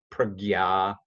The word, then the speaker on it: prajna: So kritagnya, that jna is like you may have seen the word prajna or jnana. Sometimes people in India will pronounce it gyan, pragya.